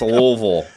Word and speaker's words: Louisville: can't pronounce it correctly it's louville it's not Louisville you got something stuck